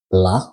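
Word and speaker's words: plat: at the end of pla which is mute you don't pronounce it so you just said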